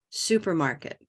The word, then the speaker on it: supermarket: That's right. Supermarket's 4 syllables, but only one of them is the stress.